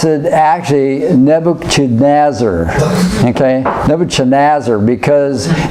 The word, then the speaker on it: Nebuchadnezzar: sir oh boy nah broken noses okay we pronounce it actually Nebuchadnezzar okay never Chen azor because different people in